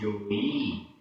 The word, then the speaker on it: जई: सत्काराइम, किमिच्छसे, किमिच्छसे, आधा चा और छा, किमिच्छसे, जोई, जोई, यहाँ पर भी ई बड़ी है, जोई। इच्छसी, इच्छसी, जई, जई, ई छोटी है, जई, जोई, जई, दोनों ई के उच्चारण देख लीजिए, जोई, जई।